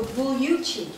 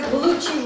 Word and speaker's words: Gugliucci: If you're actually from Italy, the second GLI is a Y sound, so Gugliucci. But if you're in America, Gugliucci works.